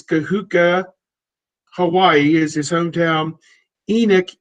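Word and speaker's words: Kahuku: He's from, I got to pronounce this right, Kahuka. I think it's Kahuka, Hawaii is his hometown.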